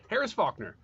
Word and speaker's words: Harris Faulkner: it is talking about Harris Faulkner. You said it right the first time? No, I'm correcting myself because there is an L in that name.